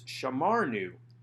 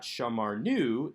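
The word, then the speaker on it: שָׁמַרְנוּ: with a nun shurik nun shurik however is not strong enough or emphatic enough of a syllable to draw the accent to itself so this is not shamar nu this is sha mar nu which keeps the accent on the second syllable where it was to begin with because the accent stays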